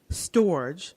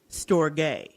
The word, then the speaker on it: storge: we're gonna talk about storage or storge if you want to pronounce it in the proper Greek way I did look it